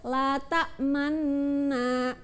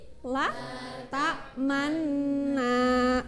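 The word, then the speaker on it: لا تأمنا: Secara istilah, mencampurkan dhammah pada sukun dengan memoncongkan bibir. Nah, jadi nanti kalian ketika membaca itu bibirnya monyong ya. Nah, jadi di nun tasydid ini nanti kalian membacanya itu agak monyong ya, memoncongkan.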